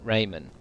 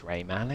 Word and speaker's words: Rayman: Raymond to be ugly is it not pronounced like Rayman have I been saying it wrong my whole life how have I been saying it Raymond Raymond um I think it's Rayman isn't it yeah I'm I think